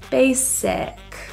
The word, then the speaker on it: basic: popular on the radio the I in this word is pronounced as a lower rather than e if you find yourself saying e pull your tongue lower and relax basic beef this means a